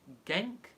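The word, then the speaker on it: Genc: The girl's name is Elena, I think you pronounce it Genk, G-E-N-C, who is aged 14 from Nottingham.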